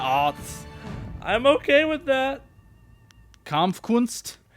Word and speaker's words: Kampfkunst: How do you spell Kampfkunst? How do you pronounce it?